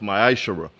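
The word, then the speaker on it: ma'aser: It means a tenth in the Hebrew, and it is pronounced ma'ashara.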